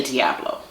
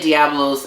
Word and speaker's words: Diablo: not strong like um Dolce Diablo don't say Diablos apricot is like really